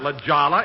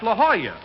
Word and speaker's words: La Jolla: Jack, that's not La Jolla, it's La Jolla. That's how you pronounce it in Spanish.